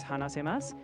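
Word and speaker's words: 話せます: The word you're thinking of is hanasemasu, where the U sound is soft or sometimes barely pronounced.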